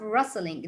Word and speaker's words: rustling: Then we have rustling. The T here is silent, which means that Miss Anna, can I say it?